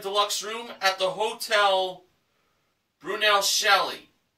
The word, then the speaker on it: Brunelleschi: room at the hotel brunel shelley brunelleschi that's that's how it's pronounced there you go with